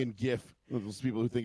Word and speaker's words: GIF: People who think it's it's actually pronounced GIF, you're like, "No, it's GIF. It's GIF." No, it's a GIF. Stands for graphics. The G in GIF stands for graphics.